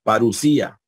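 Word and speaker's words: παρουσία: verdad del nuevo testamento parusía parusía aquí tenemos el dígrafo o micro este Recuerden que se pronuncia como una urucia eh presencia venida y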